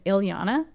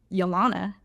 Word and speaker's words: Yllana: My last name is Yllana. And everybody, I even pronounced it wrong when I was like 8 years old. And my dad was like pissed. He's like, what'd you say? And I was like, Yllana. And he was like, no, absolutely no.